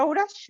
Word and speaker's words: outage: Teach, ¿cómo es que se pronuncia esa outage? ¿Outage? Outage. Outage. Outage. Power ¿Cómo outage. es? ¿Cómo es? Outage. Como age, pero mucho más relajado.